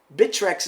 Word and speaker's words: Bittrex: on be on bitrex bitrex is the ways to pronounce it I a lot of people have a hard time pronouncing it it's called bitrex so I hit the